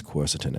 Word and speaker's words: quercetin: Quercetin, that's how I say it. Oh, it's not that? No, apparently it's quercetin. Everyone tried to tell me after I did my reel. Quercetin.